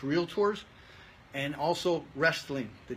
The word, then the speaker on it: Realtors: from time to time real led tours there's no a in the middle it's real tours and also wrestling the